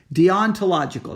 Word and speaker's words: deontological: You have what is sometimes referred to as the deontological, spelled deontological, deontological. That's how you say it.